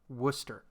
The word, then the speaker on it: Worcester: and they pronounce it Worcester. Worcestershire. It's Worcestershire. No, it's Worcester. Worcestershire. There's no shire in it.